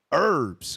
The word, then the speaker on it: herbs: weak eateth herbs or the H is silent herbs go ahead let not